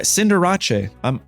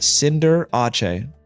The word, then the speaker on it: Cinderace: Yeah, Cinderace. That's how you say it. Cinderace. Okay, it's French, guys.